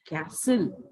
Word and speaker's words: castle: बच्चों इसमें जो टी है ना, टी को हम लोग यहाँ साइलेंट कर देते हैं, तो जब भी इसका करेक्ट प्रोनाउंसिएशन हम पढ़ेंगे तो ये पढ़ेंगे कैसल, ठीक है।